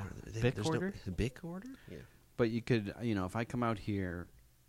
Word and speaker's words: Bikorder: It's like Bic Order, but Bic Order, but Yeah. tricorder and bicorder. so it's like bicorder, tricorder.